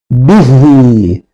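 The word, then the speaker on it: بِهِۦ: Hu zamiri eğer kendisinden önceki harf harekeli ise uzatılarak okunur. Örnek verecek olursak bihi göründüğü gibi burada hu zamirinden önceki harf olan b harekeli. Dolayısıyla biz hu zamirini bir elif miktar uzatarak okuyoruz.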